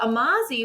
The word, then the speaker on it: Amazi: So like people be like, "Oh, Amazi, like amazing," and I'm like, "Yep, sure."